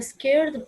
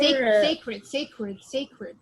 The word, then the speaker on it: sacred: Okay, it's a scared place. No, for sacred. Sacred.